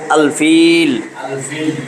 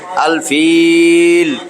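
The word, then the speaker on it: الفيل: আমরা সাকিন দিয়া থামবো তহলে সূরা আলফিল আলফিল এইযে জেরের পরে জজমালাইয়া এক আলিফ টানতে হয় কিন্তু থামলে তিন আলিফ টান আলফিল আমরা শুরু করি পাঁচটা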